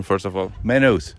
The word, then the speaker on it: Maynooth: are here in Maine how is the correct pronunciation first of all menos menus so the why you would eliminate it well